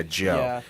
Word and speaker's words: Djo: this is your boy dude yeah this is Joe with his new song basic being basic um oh that's how you pronounce that yeah Joe it's um Joe k do you know about